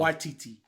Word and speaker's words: Waititi: I mean, Taika Waititi. Man, somebody pull up a podcast. It's like with somebody saying his name the right way. It's spelled away, but it's not pronounced that way at all. Waititi.